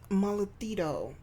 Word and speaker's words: Mollitudo: Hey guys, my name is and here we are back with Malito, which I finally figured out how to say the word.